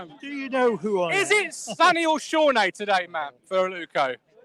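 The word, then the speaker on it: Sone: sam morsi lee evans sonny aluko or shawnee as matt would like us to have him pronounced uh macaulay bond and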